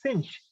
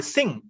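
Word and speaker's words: Synge: this irish playwright jm sinch uh sorry singh uh s i n g kind of that's the pronunciation of this uh spelling s y n g e sing so when we say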